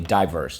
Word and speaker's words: diverse: Underline the I, the and the silent E twice. Job number 5. Yes, party crasher. The I can say I at the end of a syllable. That is rule 4.